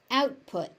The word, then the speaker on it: output: is not aspirated option output. Output notice that out the T on out is not being aspirated there.